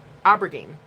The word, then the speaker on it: aubergine: Aubergine.